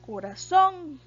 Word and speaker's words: corazón: se tilda por ejemplo corazón vean que tiene el acento en la última sílaba corazón y porque el corazón